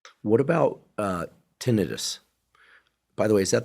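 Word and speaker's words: tinnitus: What about uh tenidis, by the way, is that the way it's pronounced or is it tonitis? Most people say tenitis. Okay, emphasizing the itis, the inflammatory part of it.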